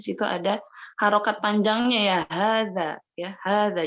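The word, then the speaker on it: هذا: Di situ ada harokat panjangnya ya, hadza ya, hadza. Jadi bacanya hadza, bukan haza ya, bukan hadza tapi hadza.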